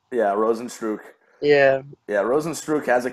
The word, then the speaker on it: Rozenstruik: Rosenstruck? Yeah, Rosenstruik.